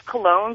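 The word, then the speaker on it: Colon: Well, my last name's Cologne, but it's spelled C O L O N.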